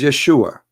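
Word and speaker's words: ישוע: So, and those, it is because they cannot pronounce the correct word. The correct word in the Hebrew is Yeshua.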